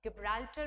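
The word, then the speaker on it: Gibraltar: Straight of जिब्राल्टर, straight of गिब्राल्टर भी कुछ लोग इसे प्रोनाउंस करते हैं, and straight of जिब्राल्टर located between Spain and Morocco.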